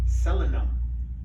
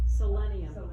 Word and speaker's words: selenium: It's rich in minerals called selenum. That's probably not how you say it, but we're gonna go with that. Cuts the risk, what was that, I'm sorry? Selenium.